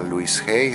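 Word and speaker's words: Louise Hay: luisy la mencionaba mucho te puedo recomendar a Luis G se escribe L O u i s e h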